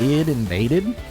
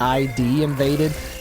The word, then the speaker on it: Id Invaded: It's Id Invaded. And it's actually, when you look at it, it's ID Invaded, but they pronounce it Id Invaded.